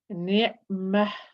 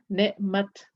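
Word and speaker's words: نعمة: So that's when I'm stopping. I will pronounce the ta as a ha when stopping. When continuing reading, I will pronounce it as a ta, ni'mat, rahmat, or ni'mata, ni'mat, and then continuing.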